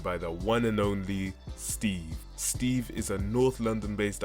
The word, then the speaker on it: St3v: silence it's good yeah tell me it is pronounced Steve right not like well is that it's how